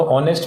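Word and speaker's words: honest: है य ऑनर ठीक यह ऑनेस्ट ऑनेस्ट तो ऑनेस्ट में एच साइलेंट ठीक है नो नो में के साइलेंट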